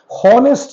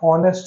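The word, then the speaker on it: honest: हॉनेस्ट नहीं होता, ऑनेस्ट होता है। और प्रोनाउंसिएशन ओ से आ रहा है, और ओ वावल है, ए ई आई ओ यू, तो डेफिनेटली इसके आगे एन आएगा।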